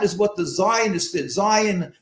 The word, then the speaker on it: Zion: Zion refers to Zion, that in the Hebrew pronunciation, meaning the city of David, meaning Jerusalem, basically.